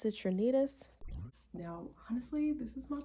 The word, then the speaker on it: Citrinitas: Well, let's move on to stage number 3, Citrinatus. It's actually pronounced Citrinitas.